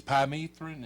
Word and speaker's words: permethrin: It's permethrin. Is that how you pronounce it?